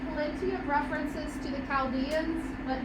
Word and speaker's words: Chaldeans: name for the Babylonians is the Chaldeans is actually how you pronounce it the Chaldeans the reason